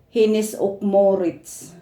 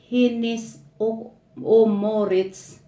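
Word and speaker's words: Hennes & Mauritz: They called it here in Sweden, Hinnis och Maurits. And I will read about Hinnis and Maurits or Hoim. Hinnis and Maurits Abbey, or they pronounce it Hinnis och Maurits, or It's and Im, is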